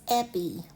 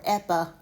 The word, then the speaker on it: epi-: This prefix is epi. Epi or epa. It can have a schwa sound on that last vowel.